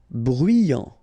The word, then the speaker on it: bruyant: Bruyant, final T not pronounced, so you get bruyant, okay?